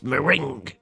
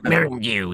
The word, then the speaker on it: Miringu: A lot of it is unintelligible, but you hear her say uh it's it's Mering. And she says, "It's Miringu." Miringu is my name.